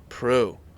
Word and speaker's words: Proulx: Proulx. Very Proulx. French. Proulx. French. You're very French. Proulx. Proulx. Proulx. You only need about 4 letters of my last name to pronounce it correctly.